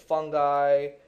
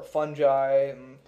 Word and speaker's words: fungi: You might want to say and we have plants, we have animals, we have fungi or fungi depending how you pronounce that.